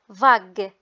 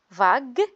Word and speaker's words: vague: Donc G devant U, ça se prononce vague.